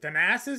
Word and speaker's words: Thanasis: Was it Thanasis? Is that how you say his name?